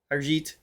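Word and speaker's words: Arijit: We already reacted to her, but just like Arjit.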